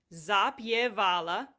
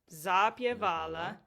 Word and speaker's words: zapjevala: Zapala. Zapala.